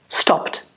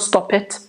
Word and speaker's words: stopped: So, stop, stopped. Stop, stopped. Notice how it's different from here. We do not add another syllable. So, stop, one syllable, stopped, one syllable. Okay, not stop it, stopped.